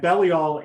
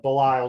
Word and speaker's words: Belial: you were talking and belial or belial depending on how you pronounce it is bait lamed yod